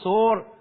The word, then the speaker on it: സോർ: അവിടെ നിന്ന് എഴുന്നേറ്റ് അവിടുന്ന് സോർ സീദോൻ പ്രദേശത്തേക്ക് പോയി കയർ എന്നതിന്റെ ഹ്യൂബ്രു ഉച്ചാരണമാണ് സോർ സോർ സീതോൻ പ്രദേശത്തേക്ക് പോയി